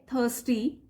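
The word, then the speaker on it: thirsty: Tired and थर्स्टी, आर को pronounce नहीं करेंगे, थर्स्टी, they decided to visit the near by village.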